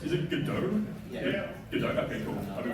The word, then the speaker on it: Godot: Godot, okay, cool. I've been pronouncing it all the time.